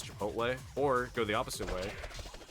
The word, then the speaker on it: Chipotle: Even like uh Chapatle, the restaurant Chapatle, I'll uh I pronounce it the same way that you'd pronounce Aristotle there. So it can mean otherwise it's Chipotle or go the opposite way and say uh Aristotle.